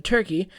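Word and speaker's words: Türkiye: the country of Turkey perhaps more accurately and less confusingly pronounced more like turkey put put a comment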